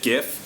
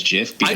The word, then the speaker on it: GIF: you here yes okay you just said gif and your graphics design expert please do not tell me you pronounce it as jiff no no the podcast